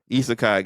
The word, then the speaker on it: isekai: something sukamii it's isai it's a isai yeah isekai guys I love eai sorry but it's it's